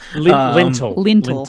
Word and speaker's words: lintel: lentil, and I was like, that's a thing in soups. Lintel.